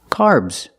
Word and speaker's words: carbs: and it's more common carbs the AR makes the r sound like car and far the S makes a z sound like zebra make the vibration this is carbs carbs they say carbs